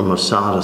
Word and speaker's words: Masada: Or Masada, some people pronounce it.